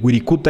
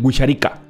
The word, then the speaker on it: Wirikuta: indígenas huicholes ellos lo ellos lo pronuncian distinto yo no sé no sé hablar evidentemente huichol pero sé pero mi casa algo así como nosotros decimos él wirikuta ellos dicen which arica este es en huichol bueno